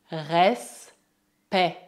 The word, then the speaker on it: respect: Lembre-se, E colocado antes de duas consoantes é pronunciado E. Le respect. Le respect.